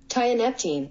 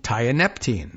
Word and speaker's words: tianeptine: right let's hear it tianeptine tianeptine okay tianeptine uh TI yellow ribbon around the old dog tree tianeptine got it okay